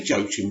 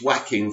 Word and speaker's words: Joaquin: And what did I say Joachim Phoenix? It's Joaquin Phoenix, isn't it? Of course, I always say Joachim and I always get corrected. It's just the way it's spelled and it's so annoying. Why can't people just say Joaquin?